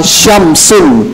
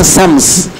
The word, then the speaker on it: Syams: kendala besar misalnya eh syamsun Syams pakai syin tapi orang Indonesia banyak bilangnya Sams jadinya Sin berubah dari syin kepada Sin kemudian misalnya Syaikh pakai